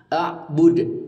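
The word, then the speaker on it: أعبد: ini adalah Qalqalah Kubro membacanya memantul dengan kuat seperti itu a'bud cuman tidak panjang jadi jangan membacanya Ma a'bud itu salah karena tidak ada Mad Thobi'i di sini langsung saja pendek Ma Abud seperti itu Oke sobat lanjut ke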